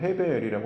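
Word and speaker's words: הֶבֶל: 가인과 아벨에서는 아벨이 아니라 원문으로는 헤벨이라고 하는 게 발음이 맞고요.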